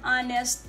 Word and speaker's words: honest: the awardee is an honest guy the same case h is silent so we have a